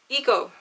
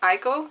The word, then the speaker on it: Iko: loyalty to Levana Oh eko eko eko right iko iko iko oh god I'm so